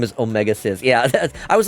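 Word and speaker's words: Omega-Xis: Legacy Collection, and he says his name is pronounced Omega Cis.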